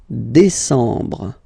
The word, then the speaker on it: décembre: And the last one, décembre, décembre, décembre. Same thing, em en décembre.